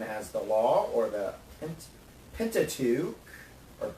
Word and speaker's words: Pentateuch: They're known as the Law, or the Pentateuch, or Pentateuch. I mispronounce that word a lot. It starts with Penta, meaning 5, and Tach, which is books.